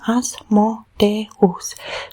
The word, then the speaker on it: Asmodeus: We see it even in his name, Asmodeus. We have two sounds, no, in 4 syllables. So Asmodeus, no?